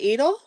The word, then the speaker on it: Edel: Edel, Edel. I'm terrible about pronouncing names. Is it Edel? Oh, I think you got it right.